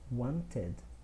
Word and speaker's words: wanted: The verbs in column number 3, they receive the pronunciation ud. In other words, you pronounce the E sound. So the original verb is want. So in the past we say wanted.